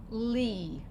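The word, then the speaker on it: לי: If I have a dot underneath the letter, it's going to say E. So the lamed says ol. The yud is silent in this case. And so what's this going to say? Li.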